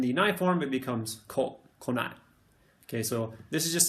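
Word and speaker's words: 来ない: But just know that it's not kunai, it's konai.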